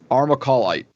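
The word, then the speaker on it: armalcolite: it is AR em al Co L ite our macaw light and thank you rob for writing out the little how to pronounce it because I would have butchered it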